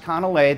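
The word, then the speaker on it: canelé: don't know if you are familiar with uh conor lays but on the left it's uh pronounced conolay this is from the muller lardon cafe which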